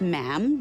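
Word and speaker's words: ma'am: and after that it's just mam rhymes with jam and it's always a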